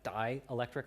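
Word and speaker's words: dielectric: if you look at dialectric elastomers um and it's spelled D E like D Electric elastomers um dialectric elastomers there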